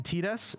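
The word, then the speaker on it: Tidus: Uh Titus not being his name, it being Tetus, uh is kind of a mind-blow for me in the future, but because as a kid I called him Titus because the water they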